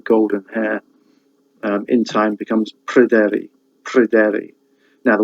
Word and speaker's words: Pryderi: hair, in time becomes Pryderi. Now the Y sound, the Y in Pryderi, can either be pronounced as a U or as a E.